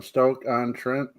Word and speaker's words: Stoke-on-Trent: Angela says my son has a T-shirt from Stoke-on-Trent. Nice. Is that how that's pronounced?